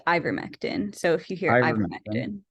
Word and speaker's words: ivermectin: back regarding these these questions yes also it's pronounced Ivermectin so if you hear it yeah thank you